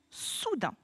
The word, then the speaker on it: soudain: Combien a-t-il de syllabes? 2 syllabes. Très bien. Soudain. La syllabe sous, ça, tu sais l'écrire. Là, ce qui va être le plus compliqué pour nous à mémoriser, c'est le graphème du son 1. Le son 1, ici, s'écrit A-I-N.